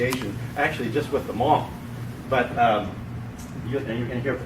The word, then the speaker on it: Hmong: little bit about the Hmong." And I said, "Well, the H is silent."